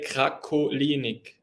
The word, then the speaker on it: Krakolinig: In German, you would say Krakolinig. Krakolinig. Krakolinig, yeah. Krakolinig. Okay. I think I'm going to stick with, if you don't mind. It's coming from the Crake, from Krakolinig, because my father was